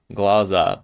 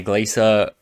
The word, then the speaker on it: Glaser: up yes big time how is my name pronounced is pronounced glaa glaza but honestly I've never correct to anyone and if you say glacer Glasser whatever like honestly I do not care say whatever you want well however you think